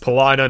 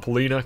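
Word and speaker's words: Paulina: then you have Palina it is pronounced Palina not Pina common mistake and then you've got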